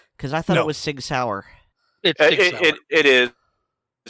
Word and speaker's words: Sig Sauer: all this time because I thought it was Sig Sauer it is I said I mispronounced it okay and you are not alone